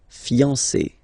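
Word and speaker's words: fiancée: Whether it's masculine or feminine, it will still be fiancé. Okay? So if a man is talking, he will say je suis fiancé. If a woman is speaking, she will say je suis fiancé. Okay, so phonetically it will sound exactly the same, but if they write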